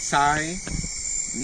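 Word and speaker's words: Sinaiticus: So Siniaticus is pronounced Si-Ne-Iti-Cus. The stress lines on the third syllable.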